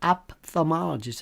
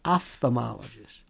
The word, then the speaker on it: ophthalmologist: How about people say ophthalmologist? It's ophthalmologist. All these mispronounced words.